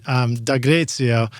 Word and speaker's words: Dagrezio: Tell us, so I pronounced your name hopefully right, Dagrezio.